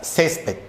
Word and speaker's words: césped: Césped. Sílaba tónica, ces.